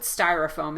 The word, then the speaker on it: styrofoam: you to practice so really go for the first syllable here second syllable is weak so you're going to cut that vowel and even though it's an o letter the sound is going to be uh the unstressed vowel or you can think